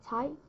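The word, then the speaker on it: 材: Alright, the first character, 才, 才, it pronounces 才, because it's really hard to type, so I put /2 indicate it means it's the second tone, goes up, 才.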